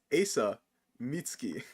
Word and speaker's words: Asa Mitsuki: That's pronounced Asa Mitsuki. As you can see, we do Asa. Spell it right, okay?